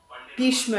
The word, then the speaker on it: Bheeshma: Bheeshma is how you pronounce this movie.